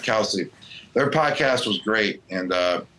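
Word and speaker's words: Kelce: But the Travis, Kels, and Jason podcast, how do you say their last name? Kels or Kelsey? Kelsey. That's one thing I forgot to ask them. Wow. All right, Kelsey.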